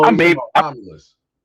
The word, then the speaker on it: Romulus: Oh, I you talking made about Romulus? Romulus. Yeah, I knew I was pronouncing it wrong.